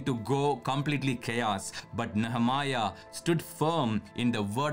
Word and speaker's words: Nehemiah: see but anyway yeah the way he's pronouncing he's like something else but it's nehemiah we said okay so